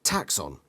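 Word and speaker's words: Taxxon: name for his ship taxon pronounced taxon apparently giant caterpillars up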